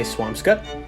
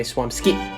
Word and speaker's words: Swampscott: Alright, this next one could be pronounced one of 2 ways depending on who you ask. Swampscott. Some people will say Swampscott. Some people will say Swampski. Swampscott. Put it in the middle.